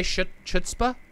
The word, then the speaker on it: chutzpah: Yeah, I gotta do the ch. There you go. The chutzpah.